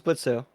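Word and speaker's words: Blitzø: He's Blitzo or Blitz. Oh, is silent.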